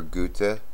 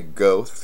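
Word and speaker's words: Goethe: quite a bit of go or gut I think that's how it's pronounced in German I've heard quite a few different pronunciations and I'm English American and I say go which is all wrong so I'm told but they know who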